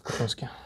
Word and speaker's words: Купянске: Или в Купянске, как правильно ударение. Ты сказал сам Купянске, я сидел потом и думал, какого хрена. В Купянске.